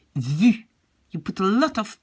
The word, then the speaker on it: vu: This is a sound not really easy to pronounce for English-speaking people. It sounds a bit more like vu, j'ai vu, when I hear English people pronounce it. But so remember to make a very small round, very small opening with your lips, and really make a very, very with a tense mouth, say vu.